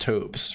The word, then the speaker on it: TOBS: There's a VTuber person named TOBS, and it's pronounced Tobes, right?